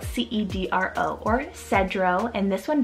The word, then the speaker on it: Cedro: with the nature theme i have the name cedro spelt c-e-d-r-o or cedro and this one directly means cedar